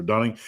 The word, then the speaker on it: Dunning: Is it Dunning Krueger or Duning Krueger? Dunning. The reason why I say Dunning is like when I lived in uh my last city, the folks across the we lived in a downtown property. My wife had a business and we lived upstairs. And the folks owned a building across the street. Their names were Duning spelled Du N I N G. And uh Dunning Duning, you can pronounce it two ways.